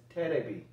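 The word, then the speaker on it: テレビ: laggio in japanese and television is pronounced as terebi in japanese okay so they're basically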